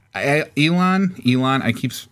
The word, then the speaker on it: Elon: Ellen Elon. Elon I keep pronouncing his name wrong.